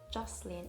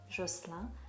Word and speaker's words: Jocelyn: The only thing is that Jocelyn in French is pronounced Jocelyn, but in English it's Jocelyn, which is a girl's name, and that the owner